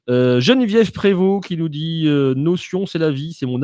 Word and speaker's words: Notion: Alors Christelle qui me reprend, qui me dit Notion, ça se prononce en anglais Notion.